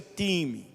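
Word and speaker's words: τιμή: significa essa palavra honra essa palavra honra no grego ela se pronuncia time Ou seja a é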